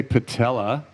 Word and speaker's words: patella: So imagine your patella, everyone say patella, right? Rhymes with Nutella.